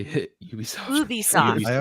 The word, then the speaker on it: Ubisoft: Ubisoft. Oh, how do people... I thought it was Ubi shit. But Yeah, Westerners say Ubisoft, but the French way is Ubisoft.